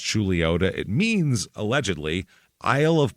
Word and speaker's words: Chuluota: of the Cities now the name pronounced julota it means allegedly Isle